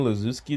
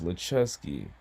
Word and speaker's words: Luski: Was I really wrong for saying Luzi, though? I mean, it's spelled Luski, but apparently it's Leeski, you know.